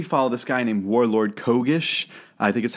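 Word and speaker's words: Kgish: you would particularly follow this guy named warlord Kish I think is how you pronounce it uh k g i s h Kish he was really fascinating you also see some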